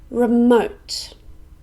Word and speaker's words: remote: popular or important again remote this is an adjective it has two syllables and we stress the second one remote this is a place